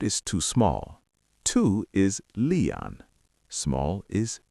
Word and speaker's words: liian: Two is leon.